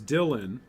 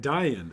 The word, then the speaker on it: Dylan: a fun one is Dylan in English we pronounce it as Dylan and not die in oh that's a good